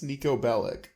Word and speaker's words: Niko Bellic: not wasn't he Russian no he got his name wrong what did I say it's Niko Bellic I'm having PTSD right now I'm good criminal